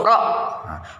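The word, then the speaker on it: ر: Kemudian huruf berikutnya yaitu huruf ro. Huruf ro, cara pengucapannya yang pertama, pinggir lidah bagian ujung dengan sedikit permukaan lidahnya ditempelkan pada gusi atas, gusi pada dua gigi seri bagian depan. Nah, ro.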